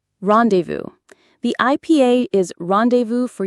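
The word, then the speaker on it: rendezvous: R E N D E Z V O U S rendevous. The IPA is rendevous for UK or rendevous for us. That final s is silent.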